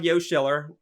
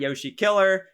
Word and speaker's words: Yoshiller: My YouTube channel is called Yoshiller, Yoshiller, not Yoshi Killer, not Yosh Killer.